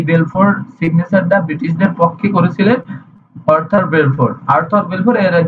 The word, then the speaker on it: Arthur: কারণ এইটা সরাসরি বেলফোর, ওনার নাম ছিল হচ্ছে আর্থার বেলফোর, ইংরেজিতে যার উচ্চারণ ARTHUR, আর্থার Balfour, BALFOUR, Balfour, ওনার নাম ছিল বেলফোর।